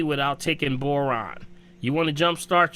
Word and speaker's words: boron: how to pronounce that Borah um chromium copper iodine did you say Bora or Boron b-o-r-o-n Boron remember Boron remember